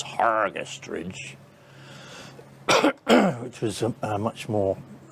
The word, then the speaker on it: Hergest Ridge: two of the bells came hergest ridge or pronounced properly by the locals hargest ridge which was a much